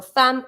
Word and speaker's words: femme: Even if it's an E for femme, a woman, you're going to pronounce it like an A sound.